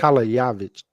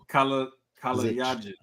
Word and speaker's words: Kalajdzic: Because that J is like a ya. Yeah, the J is like a ya. So it's Kalajdzic. Kalajdzic.